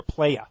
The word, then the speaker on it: playa: got his whole player said it wrong not player Playa Playa yeah yeah no R any z's no no